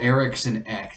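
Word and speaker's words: Eriksson Ek: by lankin and then joel x eric joel erickson ek that's how you say his name puts it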